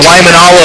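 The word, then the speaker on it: Waimānalo: Cougars bringing the fans to their feet here in set number 2, and I'm supposed to say hello to Waimanalo, Hawaii, which I finally started saying it correctly thanks to Keala Keo Perez's family telling me how to properly pronounce the name.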